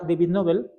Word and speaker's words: David Noble: Eh, por ejemplo, ahí está David Nobel, aunque se escribe David Noble, pero es que en inglés y en español se escriben igual, pero es David Nobel.